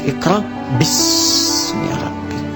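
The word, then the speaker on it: اقرأ باسم ربك: Itulah sebabnya ketika walaupun di sini ada alifnya, tetap dibacanya cepat dan pendek. Iqra bismi rabbik.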